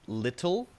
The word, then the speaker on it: little: it like that right the way that you soften the t sound to a very light d sound you said little little so there's it's not